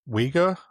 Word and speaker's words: Uygur: Uygur, as in like the Uygur Muslims? Yeah. Is that how you pronounce it? Spelled the same. He mentioned Zach Polanski yesterday. I think the Americans call him Uygur, I'm not sure.